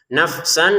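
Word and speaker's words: نفسا: Nafsan langsung ke fa-nya ini tidak boleh ada pantulan.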